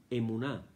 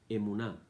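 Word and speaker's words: אמונה: La palabra en hebreo es emuná, E-M-U-N-A-H, emuná.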